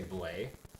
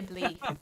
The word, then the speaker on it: Bly: I want to say Blay, but I would say Blee. Blee.